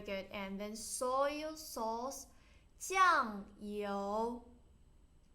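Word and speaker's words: 酱油: And then soy sauce, 酱油酱 first turn, 油 second turn, 酱油 Vinegar, 醋 Good.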